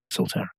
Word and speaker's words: Solterra: You pronounce it? Solterra. Solterra, thanks.